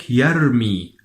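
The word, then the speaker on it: يرمي: In phonetics, the pronunciation of the Ra is called alveolar trill.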